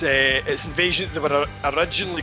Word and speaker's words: INVSN: or something like that, it's spelt INVSN, almost like kind of text speak kind of thing. INVSN, basically. Yeah. But it's Invasion.